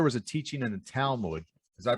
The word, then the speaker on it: Talmud: So I heard that there was a teaching in the Talmud. Did I pronounce that right?